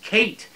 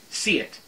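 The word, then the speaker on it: Ceit: book, telling me that C-E-I-T is pronounced Kate in Gaelic, I never would have found that out. I would have continued to call her, and this is my stupid American brain here, folks, Siet, or Siet, whatever.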